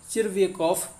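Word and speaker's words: Tchervyakov: तो यहाँ पर फ्रेंड्स देखें टी साइलेंट है इसलिए इसको चिर्वेकॉफ पढ़ते हैं, काफ़ी लोगों को समस्या हो सकती है इस नाम को पढ़ने में, तो यहाँ पर इसको पढ़ेंगे चिर्वेकॉफ।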